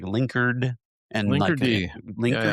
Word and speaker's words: Linkerd: Linker D. Am I pronouncing that right? Because I've heard other people say like linkard and linker link rhymes with Cardi B.